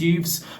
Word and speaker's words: youths: This group is called Trans Kids Deserve Better, who are, again, trans youths formed to protect trans youths and exist to protest the recent ban. Youths. It rhymes with hooves, you see?